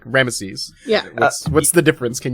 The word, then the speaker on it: Rameses: it was interesting that they actually pronounced the middle e with rames yeah like it's kind of into ramsy but there is a difference between rames and there was an actual ramsy yeah my my whole life I've only heard ramsy so I thought that this was the same guy and I've just been hearing it pronounced wrong the whole time yeah yeah and it's